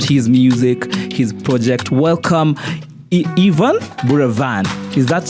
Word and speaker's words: Yvan Buravan: Welcome, Yvan Buravan. Is that how you say it? Yes, you got it right. I got it right. Yes, Yvan Buravan.